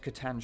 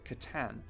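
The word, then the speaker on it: C'tan: one of 2 Catan, not Catan shards, Catan. As mentioned earlier, this was before they decided to have the Necrons do the Klingon thing and kill their gods, so these are fully fledged Catan, the Deceiver and Nightbringer specifically.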